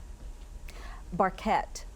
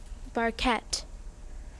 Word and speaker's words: barquette: Barquette. Barquette. Can I have the definition? A small boat-shaped pastry shell. Barquette. Barquette. Can I have the language of origin? This word is from a French word. Barquette.